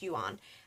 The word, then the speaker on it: Yuan: that's when I found out it was actually pronounced Yuan and it was actually Yuan as opposed to